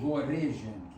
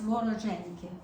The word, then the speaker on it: вороженьки: Voreženki. No, it's Vorozhenki. Vorozhenki? Mm-hmm. Yeah, it's just Okay, so incorrect here. It's Vorozhenki.